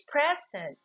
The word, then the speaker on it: present: What is the rule of stress for verb? Again, it falls into the second syllable, while noun and adjective, they're both the same, falls to the first syllable.